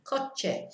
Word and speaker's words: coche: And then CO, back to the hard sound, K sound, coche.